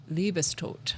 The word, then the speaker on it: Liebestod: So, wait, spell spell it, please. L I E B E S T O D. Libistote.